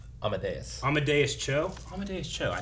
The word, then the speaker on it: Amadeus: Amadeus.